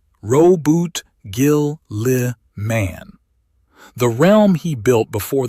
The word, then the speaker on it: Roboute Guilliman: Let me say his name properly first because the audience corrects mistakes and this one matters. Roboute Guilliman. Ro-bute Gil-li-man.